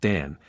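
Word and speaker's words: Danh: 210 Again, the most celebrated expression of the religion of the Voodoo is the cult of the Serpent or of the Adderda, pronounced Dan, incarnating the spirit Dagby, pronounced Dangby.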